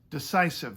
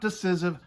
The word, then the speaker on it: decisive: Yes, decisive. They agreed, not decisive, decisive. So that's decided.